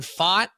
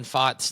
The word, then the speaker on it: Pfaadt: Could be an older message, but when Brandon Pfaadt and Landon Knack faced against each other. It's two guys whose names begin with a silent letter.